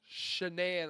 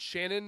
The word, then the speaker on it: Shanann: It's not Cindy or it's not Rebecca like it's Shenan. Like some people say it wrong. I've caught myself saying it wrong here and there. Um I've said Shannon instead of Shenan.